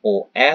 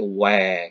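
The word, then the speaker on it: ㅚ: Dalam bahasa Korea dipercepat, bacanya cepat menjadi bukan OE tapi WE gitu ya.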